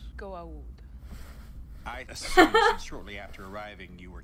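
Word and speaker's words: Goa'uld: wife and her brother and to determine the goo old threat excuse me you pronounced it wrong stepwise be an apostrophe after the a before the you it's pronounced go out shortly after arriving you were captured in prison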